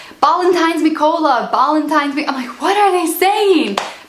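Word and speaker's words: Ballantine's: So Ballantines is a type of whiskey, but they don't pronounce it Ballantines, they say Ballantines, and I had no idea what he was saying.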